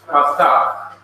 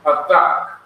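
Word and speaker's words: Pathach: Now this short horizontal line is called in Hebrew, the name is Pathak. As you see right here, this is a sign of the short vowel Pathak. P-A-T-H-A-K-H, Pathak.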